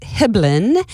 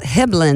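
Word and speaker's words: Hibben: He said, "Just think about Dribblin, a basketball." That's how you say my last name, Dribblin Hiblin.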